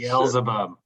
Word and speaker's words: Beelzebub: I don't know how to pronounce it. Beelzebub, yes.